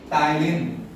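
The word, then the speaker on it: ptyalin: क्या नाम है, मत पढ़ो उसको, क्या है, पी साइलेंट है, टाइलिन।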